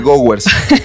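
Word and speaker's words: Gowers: los que no sepan se llama signo de goers así se pronuncia y es no es un signo que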